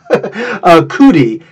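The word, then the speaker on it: Cudi: Cootie, C-U-D-I is how it's spelled.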